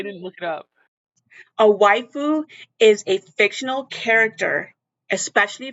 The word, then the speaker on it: waifu: So it says my boyfriend has waifus and it's destroying me.